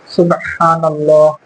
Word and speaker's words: سبحان الله: হচ্ছে পাতলা থা আর সিনটা এমনভাবে উচ্চারণ করতে হবে যখন সাপের ফনা উঠলে সি এরকম একটা শব্দ হয় এরকম করে সু আর